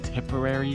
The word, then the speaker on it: Tipperary: So we're on Tipperary, I don't know how to say these words. Heritage Lane. Heritage Lane. Tipperary, you said it right.